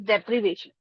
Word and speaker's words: deprivation: So the correct pronunciation of that word is deprivation.